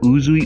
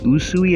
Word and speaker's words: Usui: But I was also taking inspiration from Nagi Usui, not Uzui, Usui, I think that's how you say it, the girl with the purple hair from Neo the World Ends With You.